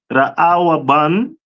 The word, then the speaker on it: Reuben: This one is the tribe of Reuben, which is pronounced Ra'awaban in the Hebrew, which means behold a son.